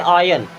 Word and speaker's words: ion: ION, इसे पढ़ते हैं आयन। क्या पढ़ते हैं? आयन। यान नहीं पढ़ना, आयन।